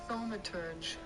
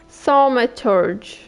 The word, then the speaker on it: thaumaturge: Cambridge Dictionary to actually learn how to pronounce it. thaumaturge thaumaturge thaumaturge thaumaturge, okay.